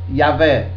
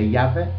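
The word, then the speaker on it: Javé: jeová nem sequer yavé embora seja esta última palavra yé Jeová yavé seja a pronúncia correta Jeová é a pronúncia arcaica e desviada do tetragrama bíblico tetragrama bíblico que se pronuncia yavé a palavra este tagr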